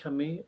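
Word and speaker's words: Camus: this year by Albert Camu. people say in English Albert Kami. I think that's the correct French pronunciation.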